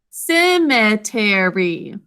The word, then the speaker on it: cemetery: it out with me cemetery four syllables okay cemetery is going to start with a s saying it's second sound because it's followed by an e just like in cement now simmer is a